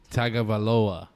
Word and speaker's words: Tagovailoa: how do you say how do you say it to tua tagovailoa tagawaloa oh there you go that was good there you go i'm